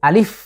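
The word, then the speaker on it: ألف: রকম টান হবে না, টান ছাড়া আ ল রস্য ইকার ফ আলিফ। এবং শেষে এসে আমি একটু চাপ দিচ্ছি, দাঁতের উপরের যে দাঁত আছে সেটা দিয়ে আমি কিন্তু ঠোঁটের নিচের ঠোঁটের পেটের উপর আমি স্পর্শ করছি। আলিফ, আলিফ, আলিফ।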